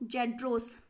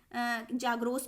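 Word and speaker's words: Zagros: और इसके साउथ में देखें तो जेड्रोस या फिर जाग्रोस भी कह सकते हैं, अलग अलग उच्चारण है, तो अपना हिसाब से देख लीजिएगा।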